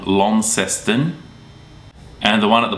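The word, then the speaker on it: Launceston: there the one at the top is called lesten and the one at the bottom is Hobart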